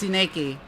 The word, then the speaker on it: Tsuneki: By the way, Kotoyuki's last name it's Kitsune backwards. It's Tsuneki.